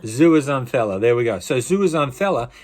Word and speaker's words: zooxanthellae: Let's go back to old mate and see if we can pronounce this again. Are you ready? Zooxanthellae. Zooxanthellae.